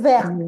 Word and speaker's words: verte: Bien, verte. Ver. Exactamente. ¿Esto dónde verte. lo usamos? Claro, verte. Ahí la T sí se pronuncia. Claro, porque tenemos la E, no se pronuncia.